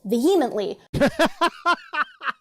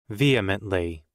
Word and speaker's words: vehemently: trial, and he, says vehemently, Oh my God. Booger eater, Bubba. I think you have the wrong emphasis on the wrong syllable. Let's fucking check this out. Vehemently.